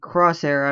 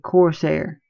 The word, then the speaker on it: Corsair: I have an 800 watt power supply by Crosshair, I believe, or Crosser, whatever you pronounce it. Yeah, Corsair. I believe that makes my power supply.